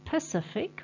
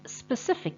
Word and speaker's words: specific: to learn and remember then specific is often mispronounced as Pacific or Pacific with an e or an a so Pacific is the ocean Pacific with an e doesn't actually exist and specific is the correct word then it means exact